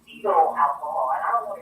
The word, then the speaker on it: cetyl: Fetal alcohol, and I don't want to get too science, right, guys, but fetal is spelled CETYL, and then alcohol, or cereal alcohol.